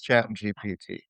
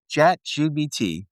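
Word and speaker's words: ChatGPT: It's Chat GPT. Chat GBT. Oh my God, you still haven't said it right.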